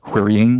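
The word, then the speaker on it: qryn: It's pronounced querying like the verb to query in the present participle.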